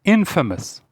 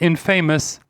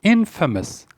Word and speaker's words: infamous: Famous and infamous. Be careful, it's not infamous, it's pronounced infamous.